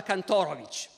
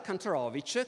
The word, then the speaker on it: Kantorowicz: molto antit tedesco Anzi cambia perfino la pronuncia del nome perché in Germania pronunciava kantorovich che per i tedeschi suona meglio in America comincia a pronunciare kantorovich che invece funziona meglio per gli americani ripudia il suo libro